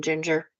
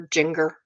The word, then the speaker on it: Jinger: It's like, if you're going to do a YouTube video on the Duggars, at least learn how to say the name Ginger. Don't call her Jinger. That's not her name.